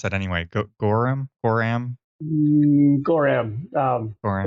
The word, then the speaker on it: Gorram: Or how do you pronounce that anyway? Gorram? Gorram? Gorram.